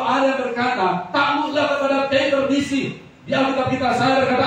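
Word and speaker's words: κυβέρνησις: Bacanya kevernisi.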